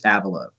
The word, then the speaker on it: Avilo: Is it Avilo or Avilo? He says Avilo.